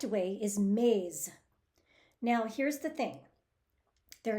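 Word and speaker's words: मेज़: this word maze as Mage with a J sound instead of a z like zebra both of them are accepted in conversational Hindi but the correct way is maze now here's the thing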